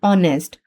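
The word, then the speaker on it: honest: एच इन ऑनेस्ट जैसे ऑनेस्ट में एच जो है वह प्रोनाउंस नहीं होता। तो ये सब इनिशियल कंसोनेंट हैं जो प्रोनाउंस नहीं होते पर राइट जरूर होते हैं।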